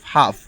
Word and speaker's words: half: যেমন দেখো হাফ, HALF, হাফ, এখানে এল লেখা আছে কিন্তু এর উচ্চারণটা হালফ হয় না, হয় হাফ।